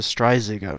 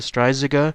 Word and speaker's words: Strzyga: mythology known as the stria and I hope I'm saying that correctly but again phonetically that's at least how it apparently is said so here's all the information